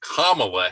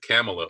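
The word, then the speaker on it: Kamala: nice black female candidate kamla Harris rhymes with obamaa don't ever pronounce it camela or you'll be a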